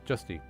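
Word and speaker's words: Justia: undead trainer who's not Juicy's man I'm sure as a DA but I don't know how to say her name I'm sha Juicy's very good friend it's not juicy it's justy if you ever get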